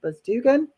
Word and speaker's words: Buzdugan: change maker interviews today I'm joined by Helen buzdugan that's the correct pronunciation isn't it Dugan buzd it is yeah